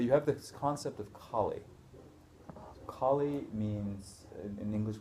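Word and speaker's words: khali: have this concept of colie Ki means in English we spell it k h a l i so not K like like the Hindu goddess k k means empty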